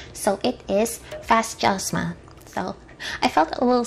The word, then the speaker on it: Fasjosma: it and they did give me the proper pronunciation so it is fascism so i felt a little silly asking that